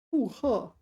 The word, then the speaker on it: 复合: 复合. This is one of these rare cases when this is pronounced fourth tone. 合.